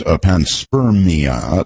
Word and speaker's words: panspermia: Well, the way you pronounce it suggests to me, I didn't realize it was panspermia.